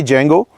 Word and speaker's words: जेंगो: डी इसमें silent नहीं है, डी है ही नहीं इनके जेंगो के अंदर, तो सफदर जंग है, तो जंग से इन्होंने जेंगो अपना जो है वो नाम बनाया।